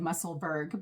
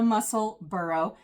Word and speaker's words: Musselburgh: A lot of viewers have helped me with that because originally I was following a few people who said Musselburgh, but it's the Musselburgh, like Edinburgh. So why the Musselburgh?